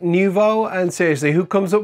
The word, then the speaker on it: Nouveau: Actually, we pronounce it Nouveau, and seriously, who comes up with these names?